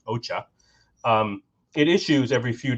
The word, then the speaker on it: OCHA: coordination of humanitarian Affairs OA or pronounced Ocha um IT issues every